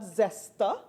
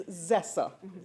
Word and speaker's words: zesser: But, and the term for some other persons who mispronounce it is not zester, it's zesser, double S, not T.